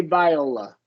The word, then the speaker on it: Viola: If it's an instrument, it is pronounced viola. If Yeah. it's a name, we normally say viola.